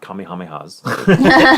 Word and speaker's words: Kamehameha: Along the stretch of road, originally built in 1845, warriors said to have perished at the hands of King Kamehameha's military not Kamehamehas.